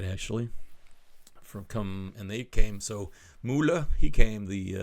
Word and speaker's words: Müller: is M-O umlaut L-E, which if you wrote it without the umlaut would just say mole. But Müller is the pronunciation with the umlaut on top.